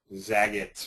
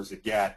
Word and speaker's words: Zagat: They've bought Zaget or Zagat depending on how you want to pronounce it.